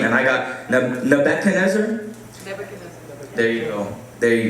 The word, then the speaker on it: Nebuchadnezzar: So there was this king, and this king, I ask Ashley this all the time, how do I pronounce his name? And I got Nebuchadnezzar.